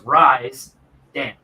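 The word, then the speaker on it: Risdam: So to say it right, it needs to go RISDA. And then split it in the half. So it's Rise. So it's Rise Dam. Rise Dam. Okay, that's what I thought it was, but that's the way I always pronounce it. But I heard people pronounce it Risdom, so I didn't know.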